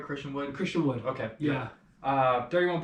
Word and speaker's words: Christian Wood: Christian Woods though, he's pretty good. He had 31 points. Did I say it right, Christian Wood?